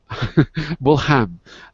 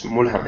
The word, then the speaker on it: Mulham: Actually, you were pronouncing it correctly first, because it's not khe, it's mulham. Yeah, mulham. Anyway, okay, yeah, there's no khe.